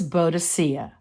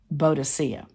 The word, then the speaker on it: Boadicea: Her name was Boadicea. Another spelling of her name could be pronounced Boudica.